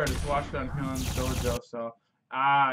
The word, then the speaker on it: Hyun's Dojo: Damn, Hyun's Dojo, that's how you pronounce it, okay.